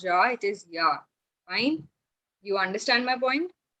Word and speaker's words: ja: So it is ya. It is not ja. It is ya.